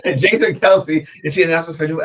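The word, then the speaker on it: Kelce: Um, I can't pronounce that last name. Might go Kelsey." Is that Kelsey? Oh, sorry. Kelsey. Jason. Kelsey.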